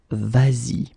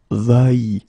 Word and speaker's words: vas-y: to modify it and put this S here just to get the sound vas-y instead of va-y.